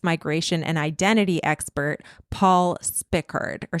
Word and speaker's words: Spickard: historian and race migration and identity expert Paul Spickard or Spikard. I'm not quite sure how you say his name. Paul Spikard. It's spelled S P I C K A R D.